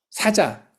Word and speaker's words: 사자: 저승 사자라고 표현을 했는데이 사자라고 하는 단어하고 사자. 동물 사자 있죠? 라이언. 그 사자하고 발음이 같아. 저승 사자와 동물 사자가 발음이 같아요.